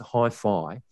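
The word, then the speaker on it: HiPhi: from china actually said what's a hi-fi x and i had exactly the same question in mind and it is in fact pronounced hi-fi and their main product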